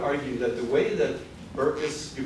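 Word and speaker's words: Berkes: knowledge I would argue that the way that burkus you pronounce it Burks or burkus bur Burks yeah Burks and Folia have dealt with anthropological knowledge has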